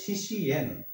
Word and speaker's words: শিষ্যেন: এখানে কি লেখা আছে? শিষ্যেন হবে শিশিয়েন, শিশিয়েন।